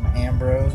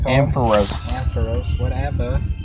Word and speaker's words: Ampharos: am pros and pros Ambrose whatever it's Ampharos I'm gonna correct you